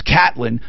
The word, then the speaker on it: Caitlin: It's Catlin, which I don't understand, but that is it.